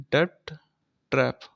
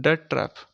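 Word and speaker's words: debt trap: इसको हम बोलते हैं डेप्ट ट्रैप डीबीटी ट्रैप इसको प्रोनाउंस करते हैं डेट ट्रैप ठीक है तो इसका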